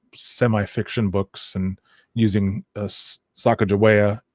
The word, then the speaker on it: Sacagawea: books and using uh sacagawea what is the normal american vernacular of of pronouncing her name um but yeah her name is sagawaya so that's our basically